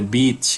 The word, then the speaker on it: beach: Tolong dibedakan pronunciation pantai dengan pronunciation anjing betina. Jangan salah ngomong dan jangan sensitif ketika mendengar. Kalau pantai itu i-nya panjang bunyinya. Gitu ya. Kalau yang satunya pendek dan agak tegas. Jadi itu perlu dibedakan.